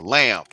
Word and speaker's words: lamb: My life been lame or lamb. The B is silent.